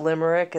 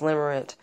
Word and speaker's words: limerent: on your search engine limerent it sounds like Limerick but it's spelled a-n-t at the end not ick it's not Limerick it's limerent it should be a limerick